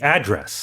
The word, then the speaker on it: address: It'd be address. Address. Right. So on the first syllable. But that's only for North America. In the UK, even 주소 is address.